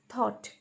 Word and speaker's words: thought: Thought, THOUGHT. See here, GH is silent.